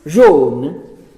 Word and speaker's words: jaune: En cambio, dice después, cuando digo jaune, ¿verdad? Lo asocio a la palabra jeune, que es joven. Esa AU de John se escribe J-A-U-N-E, es un fonema posterior, cerrado y, ¿qué otra cosa?